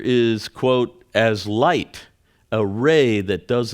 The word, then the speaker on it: Ra: so cool we are rays of light in ancient Egypt uh the Great God raah which was actually pronounced Ray the legend is that